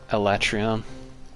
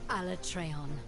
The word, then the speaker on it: Alatreon: this is never realized that's how you pronounce alatreon alatreon an elder known as